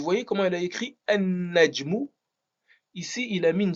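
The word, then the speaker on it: النجم: rendre définie, eh bien, on va pas prononcer le lam. On va supprimer le lam, mais on va doubler le nun. Ce qui va faire qu'on prononce plus le lam et on va dire an-najmu.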